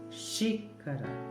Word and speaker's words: xícara: É forte, é a primeira sílaba forte por conta do acento. Xícara, xícara, ok?